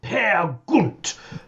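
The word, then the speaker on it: Peer Gynt: five act verse play pia gint i once heard a performance at the proms narrated by simon callow who insisted on pronouncing it pear gunt never knowingly underplayed and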